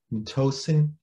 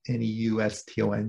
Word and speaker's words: neuston: And it is the home of a bacterial community that's called neuston, N-E-U-S-T-O-N, neuston.